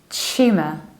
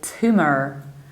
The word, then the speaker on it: tumour: In the British accent, we say tumour, tumour. We palatalize the beginning and reduce the ending, tumour. But in the American accent, we say tumor, tumor, tumor.